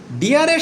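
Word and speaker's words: deer: পূর্বে আমরা বলেছিলাম যে বিশেষ করে আমরা বলেছিলাম যে ডিয়ারের সাথে এজ যুক্ত থাকলে তাহলে তার উচ্চারণ কি। হ্যাঁ, ডিয়ার মানে হচ্ছে হরিণ, ডি ডাবল ইয়ার ডিয়ার, এটা বেসিকলি উচ্চারণ করে ডিয়া।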